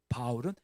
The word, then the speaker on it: 바울: 사울은 히브리시 발음이고요. 바울은 헬라식 발음입니다.